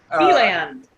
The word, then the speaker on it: DeLand: We got a special one for you guys today, all the way from, I believe it's pronounced DeLand, Florida? DeLand.